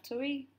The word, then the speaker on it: tui: And I guess you can sew yourself up on if you have enough tui. But the correct pronunciation is tui.